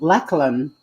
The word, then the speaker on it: Lachlan: Like in Tasmania, there is a suburb called Lachlan, but it's pronounced Lachlan.